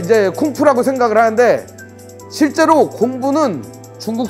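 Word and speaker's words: 功夫: 좀 더 세게 읽으면 쿵푸. 예. 중국은 공부를 쿵푸라고 얘기합니다. 이 쿵푸가 뭐냐? 아뵤! 이런 거. 이런 게 이제 쿵푸라고 생각을 하는데 실제로 공부는 중국 사람들은 몸과 마음을 단련하는 일이라고 생각해요.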